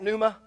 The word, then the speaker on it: pneuma: is good for you it is the Greek word pneuma we would probably spell it in English like that anyone ever seen that Numa that is the Greek